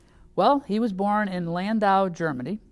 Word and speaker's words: Landau: Well, he was born in Landau, Germany, which I'm sure I'm mispronouncing. Let me try the German way. Landau, Germany.